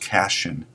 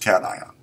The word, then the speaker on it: cation: called a cat ion it's not pronounced cashion as some of you will like to pronounce it it's pronounced Caton in order to understand